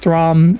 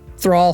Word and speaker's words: Thrall: council uh that the I think I mentioned the orc totally not throm or a thrawn or what's the New York from Wow Josh I'm sorry thrall thank you I butchered the out of his name totally not thrall showed up the monk